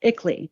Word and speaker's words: ICLEI: I believe that acronym is pronounced ICLEI.